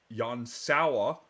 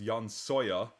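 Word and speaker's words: Jan Sauer: kids Ziggy who is Yan sa who I kept mispronouncing as Yan soya figured that out when I was watching The Saga 2 VOD whoops so Yan sa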